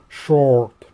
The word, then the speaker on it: short: Мы это R четко-четко произносим. В английском это short.